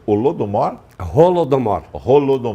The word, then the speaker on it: Holodomor: cima o nome da exposição para não errar pronúncia holodomor rolou do morro rolou do modo o que